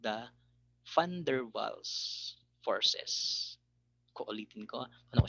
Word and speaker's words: Van der Waals: So ganun siya binabanggit, yung tamang pronunciation is a Van der Waals. Okay, hindi siya Van der Waals forces.